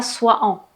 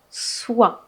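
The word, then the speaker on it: soient: Ça se prononce comme ça. Pas soit en. Soit.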